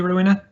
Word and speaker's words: Rowena: Is it Rowena? Am I pronouncing that correctly, Rowena? Yes, you are.